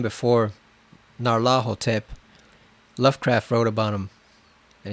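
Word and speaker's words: Nyarlathotep: wherever it goes I always thought it was n Laro tip but apparently it's Naro tip like you're supposed to pronounce the ner as one just this one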